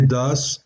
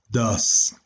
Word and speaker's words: does: Viene do y viene does. Ya habíamos dicho que este se pronuncia do y este se pronuncia como si fuera un dos muy fresa.